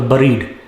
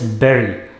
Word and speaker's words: bury: in your possession next it is not buried or buried this bury after the funeral the